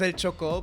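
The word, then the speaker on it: Chocó: Yeah, in Spanish it's El Choco, but in English you could say Choco.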